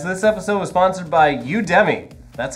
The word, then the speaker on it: Udemy: our show guys this episode was sponsored by udemy that's how you say it good it's the